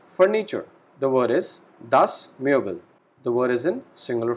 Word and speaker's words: Möbel: The word is das Möbel.